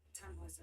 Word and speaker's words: Tannhäuser: We pronounce it Tannhäuser with an umlaut.